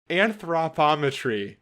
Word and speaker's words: anthropometry: this last week and I could say it. Anthropometry. I kept trying to add an extra syllable there.